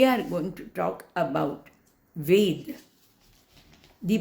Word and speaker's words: Ved: Now I'm not going to talk individual words now, but we are going to talk about Ved. The pronunciation of Ved, it must be V-E-D alone.